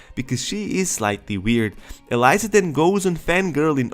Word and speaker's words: Eliza: introduces herself as Eliza The Alchemist and I mispronounced her name the first time her name is Eliza and now we see that thce is not